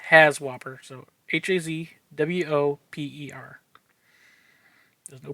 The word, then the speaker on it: HAZWOPER: it work if you find it this is pronounced has whopper so h-a-z-w-o-p-e-r there's no P but as War doesn't work so has whopper is hazardous waste operations emergency response they do